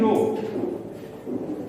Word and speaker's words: rho: But here H is silent, we pronounce it as rho.